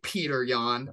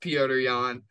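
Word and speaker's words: Petr Yan: love it number two as my boy sean o'malley would say peter yawn or as it's supposed to be pronounced peorian uh i mean peorian's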